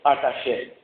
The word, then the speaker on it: Artaxerxes: No mês de Quisleu, no ano 20 do reinado de Artaxerxes. É nome difícil de falar, hein? Como eu pronunciei esse nome? Isso, Artaxerxes.